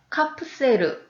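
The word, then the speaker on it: カプセル: 이 개인용 숙박 공간입니다 이 캡슐을 일본어로 발음을 하면 카프 세르 라고 하고요 호텔은 호텔 로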